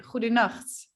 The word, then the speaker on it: goedenacht: If it's like past midnight, we say goedenacht, goedenacht. So there's this sound again.